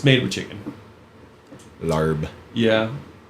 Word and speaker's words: larb: It's weird because they spell it weird. It's like they spell it differently in English phonetically. So they spell it there LAAP. Okay. Lop. It's spelled Lob larb guy. here. Yeah, instead of lob. Same word.